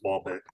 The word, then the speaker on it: Ball x Pit: I swore that you don't even pronounce the X.